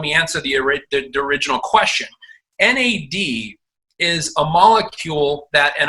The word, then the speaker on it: NAD: and by the way it's not pronounced mad it is nad it's an acronym and for nicotinamide adenine